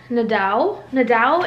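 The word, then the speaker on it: Nadeau: And then this little piece right here, where my Kindle is on top, I got this at Nadau in Austin, Texas. It's spelled N-A-D-E-A-U.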